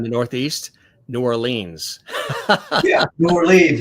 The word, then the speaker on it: New Orleans: Yeah, New Orleans, right?